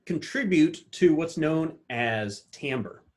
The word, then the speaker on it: timbre: And all of these can contribute to what's known as timbre. I know it's spelled like timber, but it's timbre.